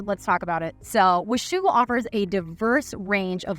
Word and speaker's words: Washougal: It's Washougal.